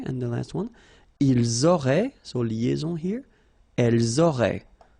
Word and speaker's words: auraient: And then look, if you've got A-I-E-N-T, then phonetically it goes like aurait. Okay, so phonetically you've got aurait here, aurait, aurait, and here as well, aurait. Okay, so it's quite easy to produce orally.